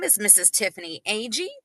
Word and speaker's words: Agee: Tiffany Agee, pronounced like the first two letters A G.